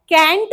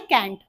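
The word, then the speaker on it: can't: कैंट wait वॉन्ट wait, कैंट wait वॉन्ट wait, तो वहां बस मैंने प्रोनाउंसिएशन सुना है कैंट, आपको कहना है कांट, ठीक है।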